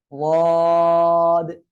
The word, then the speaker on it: ضاد: উচ্চারণ হবে জিহ্বার গোড়ার কিনারা, উপরে মাড়ির দাঁতের গোড়ার সঙ্গে লাগিয়ে উচ্চারণ হবে। ওয়াদ।